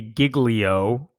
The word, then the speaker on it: Giglio: gonna talk about uh I'm pretty sure his name is pronounced Pastor Louie Giglio many people like jilo no it's I think it's how he pronounces it but basically here's what